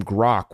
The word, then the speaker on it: Groq: task even the name grock was meant to invoke the kind of subject depth the company was striving to represent it's Gro and we spell it with a Q and it's because it